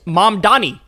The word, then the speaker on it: Mamdani: He still doesn't know how to say his name. It's Mamdani. Mamdani. It's not that hard.